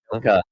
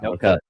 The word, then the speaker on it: Nokwa: Noka. Okay. Noka. All right, well, There's the W is silent.